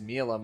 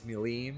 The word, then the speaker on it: Milim: He was like, it's not pronounced Milam, it's Demon Lord Milim.